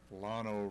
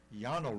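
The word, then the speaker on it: Llano: a dou l is pronounced like a y or an sh so they might say South Yano River that's what I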